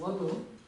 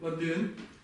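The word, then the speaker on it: ལ་དོན: есть частицы, 7 частиц, которые называются ладон, ладын, ну я немножко на русский лад произношу, давайте лучше чисто по-тибетски будет, ладын, используется где у нас,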